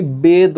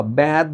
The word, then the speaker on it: বেদ: এটাকে তুমি বেদ বলবা, ব্যাদ বলতে পারবা না।